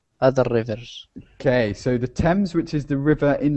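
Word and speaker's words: Thames: differently now because um t h is usually a th sound but here and an a is an R sound so it should be themes yeah but it's we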